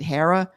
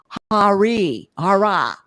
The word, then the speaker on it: Hara: I remember this one woman, it's spelled Hara, and I said, is it Hera? No, Hara. It's Hara, not Hera.